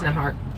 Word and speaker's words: Nembhard: Yeah, it's Nembhard.